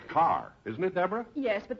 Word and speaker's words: Kerr: it yes but in in England it's pronounced car oh just like here